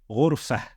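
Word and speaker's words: غرفة: end of that word, then we would not pronounce the haraka on the ta, and we would pronounce the ta as a ha. For example, ghurfah, ghurfah.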